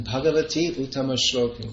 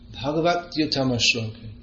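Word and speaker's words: bhagavaty-uttama-śloke: you're chanting Bhagavati Uttama Shloka, but it's to be pronounced Bhagavat Uttama Shloka.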